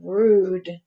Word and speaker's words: rude: hear that e but i can hear the u flute so that's my long u mule mule you i